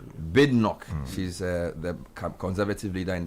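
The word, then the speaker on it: Badenoch: Is that how her name is pronounced? Bnock. Bidnok.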